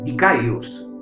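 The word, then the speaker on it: δίκαιος: La palabra justo en griego significa o se pronuncia dikaios, y justo en griego quiere decir cualquiera que camina y anda en comportamiento recto.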